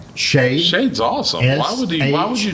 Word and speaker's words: Shade: But How his does he name is spell it? Shade. Shade.